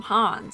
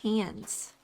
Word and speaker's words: Hans: him Hans and hands but it sounds like his name is actually pronounced hands I've been saying it wrong what did you say